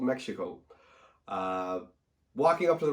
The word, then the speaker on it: Mexhico: It is called Mexhico. It's spelled Mexhico. I did talk to the manager, and that's how she told me to pronounce it. So it's called Mexhico.